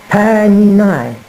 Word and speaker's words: Paradeigma: is spelt P-A-R-A-D-E-I-K-N-U-N-A-I, and it is pronounced Paradeigma. you almost don't pronounce the K if you are a Frenchman.